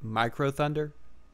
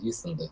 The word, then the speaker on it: Micro Thunder: I think that's Mhm. how he wants his name pronounced. Because Yes. it's like the U symbol, but I know it's Yeah, micro. that's Micro Thunder. I've always said you Thunder, but you have just enlightened me.